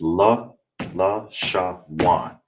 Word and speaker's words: Lashawan: All right, and together it's La Sha Wan.